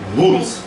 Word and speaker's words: hoed: Hoed. Goed. Muitas vezes o D no final de uma letra, de uma palavra, se soa como um T.